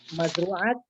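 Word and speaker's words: مزروعات: Nah, kan mazru'at nggak pakai alif, bacanya nggak pakai mad lil jam'ah.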